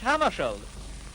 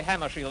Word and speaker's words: Hammarskjöld: Well, I pronounce it myself in Swedish. Hammershell. But if you say Hammershield, that's all right with me.